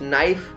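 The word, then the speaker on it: knife: यस, नाइफ, नाइफ में भी के साइलेंट है, के बाद एन आया है.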